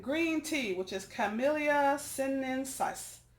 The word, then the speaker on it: sinensis: tea which is camellia sinensis sinensis si in E in s is what a where are my science science nerds we learn to pronounce this correctly contains a group of